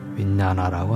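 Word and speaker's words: viññāṇa: 아르마리는 빨려 발음으로 윈냐나라고 합니다.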